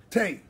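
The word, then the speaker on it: תה: Because in Hebrew, how do you say tea? Tay, right? Tough and hay.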